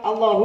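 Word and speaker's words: الله: Nah kayak gini ini bacanya lam Allahu apa Allahu Allahu Allahu jadi lanya panjang kan Ya nah ini juga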